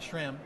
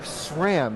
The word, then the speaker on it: SRAM: at Shram listen carefully it's not it's not Shram it's not scram it's not spam exactly just sham sham is the right way to say it welcome to Good morning